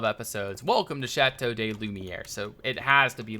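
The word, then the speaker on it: Lumière: welcome to chatau De lumere so it has to be lumere now but just for uh curiosity's sake what what is the pronunciation the correct French pronunciation for that Li my air Li my air Li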